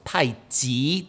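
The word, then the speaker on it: 太極: And that qi, meaning spear, is not the qi of tai qi, which is tai ji, ji, by the way, mm-hmm. and not qi as in internal power or force.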